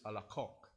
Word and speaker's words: Alacoque: Ang spelling niya is Alacoque, but dun sa amin sa France, we pronounce it Alacoque.